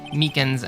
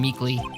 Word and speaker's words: Meekins: for it actually officer meekins at the detention center told us ah that poor little doggy poor guy i keep getting his name wrong and keep calling him meekly he told us something